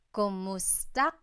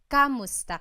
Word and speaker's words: kumusta: Kumusta ka? So it's spelled K-U-M, kumusta ka. But sometimes you might hear some people say kamusta ka, like it's a K-A sound.